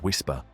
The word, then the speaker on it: WSPR: Utilizing a global network not designed for aviation tracking at all, the weak signal propagation reporter network or WSPR, often pronounced whisper, WSPR is a protocol used by amateur radio operators worldwide to test radio propagation conditions.